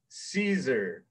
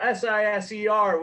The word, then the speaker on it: Siser: you already know, it is how to properly pronounce Siser. So S-I-S-E-R, when you see that at Michael's stores, it is pronounced Siser.